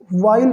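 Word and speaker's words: while: फॉर अ वाइल means कुछ समय तक, वाइल पढ़ेंगे नॉट वाइल, कुछ लोग बोलते हैं फॉर अ वाइल, that is incorrect. For अ वाइल, H silent है, ओके।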